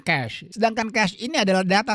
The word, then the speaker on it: cache: Ya, sama kalau kamu pengucapan itu sama dengan cash untuk uang. Ya, jadi orang biasa bilang cache, tidak, teman-teman ya, ini bacanya cash.